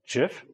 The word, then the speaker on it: GIF: what we call an animated uh gif right like the peanut butter jif even though it's spelled gif who here knows what